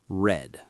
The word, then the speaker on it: read: It's spelled the same, but the pronunciation changes to read.